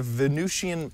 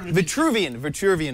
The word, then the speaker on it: Vitruvian: In the 15th and 16th century, this 15th and 16th century inventor drew the Venusian man. God, I'm saying it wrong. Yeah. Steve Gibson. Vitruvian man. There we go.